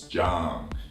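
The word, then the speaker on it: Zhang: jump zah ang now when people see the Z again they tend to say Sam or Jiang or something but together with what we learned just now you see the Z agents more like jet and then the ang really like oh so it's John John Young say John there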